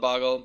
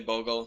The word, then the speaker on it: Bogle: it's named after slippery I call it boggle but it's technically Bogle so you guys can